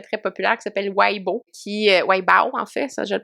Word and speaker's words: Weibo: Mais eux ont une plateforme, en fait, de chat qui est vraiment très, très populaire, qui s'appelle Weibo, Weibo, en fait, ça, je le prononce comme du monde, où, ben, justement, tu